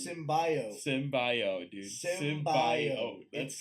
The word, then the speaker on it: symbiote: Except they pronounce symbiote wrong. Symbiote, dude. Symbiote.